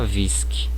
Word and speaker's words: whisky: Então não posso mudar, como whisky, eu não posso pronunciar whisky, né? A pronúncia é whisky, como se tivesse a letra U aqui, né?